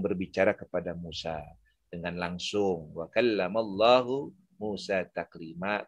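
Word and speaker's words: وَكَلَّمَ اللَّهُ مُوسَىٰ تَكْلِيمًا: Wa kallamallahu Musa taklima. Tapi ahli bid'ah membacanya wa kallamallaha Musa taklima. Kedua, jadi yang pertama tadi,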